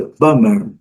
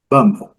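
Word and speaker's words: bomber: Então, aqui é bummer, bummer, bummer. Nada de B, nada de B. O B é silencioso.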